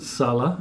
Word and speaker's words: Salla: I pronounce it Salla.